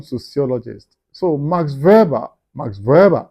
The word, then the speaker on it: Weber: So, Max Verber Max Verber is the right pronunciation you know in German. But some English, you know, people who speak English actually sometimes call it Max Weber Weber or even American Max Weber.